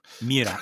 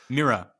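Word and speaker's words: Myrrha: This is Mira or Myra? It looks like, there's a couple R's where you wouldn't think they'd be. Yeah. So like Myra, I guess. Myra. Or like Mira. Mira, yeah, right?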